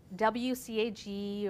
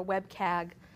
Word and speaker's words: WCAG: addition to that there's wcag or wcag or web KAG I've heard it pronounced several different ways by people in the industry and this is an